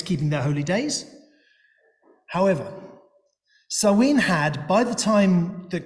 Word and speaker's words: Samhain: the already practiced Samhain, written Samhain, but pronounced Samhain. I'm informed, I don't speak Irish, so I don't really know.